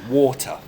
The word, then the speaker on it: water: an English accent water that's not bad but you need to make it a longer sound water water and a lazy